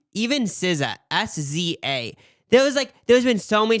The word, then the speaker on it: SZA: look at it, like I didn't know how to pronounce it, but now I just say SZA.